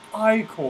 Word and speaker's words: ichor: It's not, pronounced I-core. It's not Ichor.